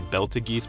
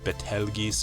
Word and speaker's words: Betelgeuse: I always want to say Beltegeuse, but that's not how you say it. It's Betelgeuse or Betelgeuse. Whatever.